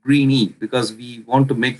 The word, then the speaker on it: Greeny: And I also wanted to sound like greeny because we want to make the solution greeny.